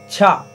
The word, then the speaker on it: cha: And the fourth syllable on the right side is cha, C-H-A.